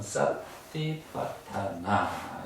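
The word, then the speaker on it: satipaṭṭhāna: 첫 머리입니다 그래서 사념처 사띠 파타나 이렇게 합니다 그랬으니까 따라 해보시오 사띠 파타나 타나 싸를 싸 발음을 싸로 쌍 시옷으로 하면 안 되고 사띠 타나 이렇게 타나 이렇게 야 됩니다 그래서 우리가 이렇게 부처님께서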